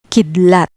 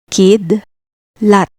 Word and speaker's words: kidlat: Kidlat, lightning. Split DL, kidlat, kidlat. See how drawing a line between consonants helps you read Tagalog words correctly?